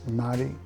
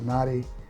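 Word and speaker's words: Notte: bulgari i think it's naughty naughty is how they pronounce it nadi i think it's n-o-t-t-e um very similar to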